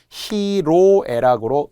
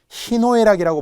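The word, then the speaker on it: 희로애락: 그런데 어찌어찌 하다 보니까 이것이 변해서 히노에락이었어야 하는 것이 히로에락으로 음이 변해요. 그런데 놀랍게도 많은 분들이 히노에락이라고 말하는 분들이 있어요. 틀린 거예요.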